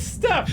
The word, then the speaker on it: steppe: It is Step, right? The Golem of Steppe legends. It is Step.